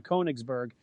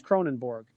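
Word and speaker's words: Königsberg: discussing Emmanuel Kant Duncan unintentionally mispronounced his Prussian Hometown koenigsberg as Cronenberg perhaps he was thinking about the beer cronenborg 1664. and yet this obvious error also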